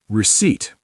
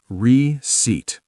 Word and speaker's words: receipt: Receipt. Receipt. The P is silent.